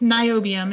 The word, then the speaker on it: niobium: I cannot pronounce his full name for some reason. It's niobium.